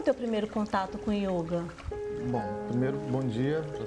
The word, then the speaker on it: yoga: Pela pronúncia do sânscrito, que é a língua que todas essas escrituras do yoga, todo o ensinamento do yoga está registrado, a palavra é masculina, é o yoga, então, o O é fechado.